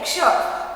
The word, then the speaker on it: क्ष: जब हम इसका उच्चारण करते हैं तो कैसी आवाज आती है? क्ष। इसमें क भी होता है और श भी होता है, ये दोनों अक्षरों से मिलकर बनता है क्ष।